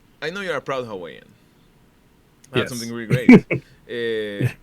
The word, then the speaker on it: Hawaii: Like a lot of people think it's Hawaii. It's actually every W in the Hawaiian language is actually a V, so it's actually Hawaii.